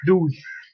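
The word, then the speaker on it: douze: to the last letter number 12 you have pronounced differently you have the use daddy and now it says deuce deuce maybe uh you can compare it with goose so it becomes deuce number 13 you have t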